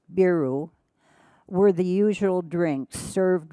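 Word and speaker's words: ビール: rice green tea and beer pronounced beeru were the usual drinks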